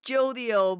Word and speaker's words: Jodio: a drug meal too is it yolio or jodio his name is jodio but the Spanish people will pronounced as jodio like jalapeno and two is Hawaii